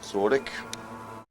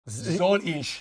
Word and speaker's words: soll ich: Zordik. Did he say Zurich? I heard Zordik. Zordik. Zordik. Ah, soll ich.